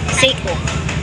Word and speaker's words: Seiko: Ano bang talagang pag-pronounciation? Seo. Pycho Seo Seiko.